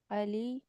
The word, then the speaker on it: Ali: Nah, saya pikir nanti bacanya alai. Soalnya ada waktu itu ibu-ibu di Indonesia dibacanya H walidi alai alay alay bukan alai itu Ali. Ali ya. Alhamdulillahnya tidak terjebak dengan itu. Ali bukan alai.